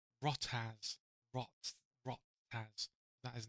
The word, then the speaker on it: RachtaZ: Maybe it's like the word yacht, like a yacht, right? So like a yacht, but like as, then just change it to a R.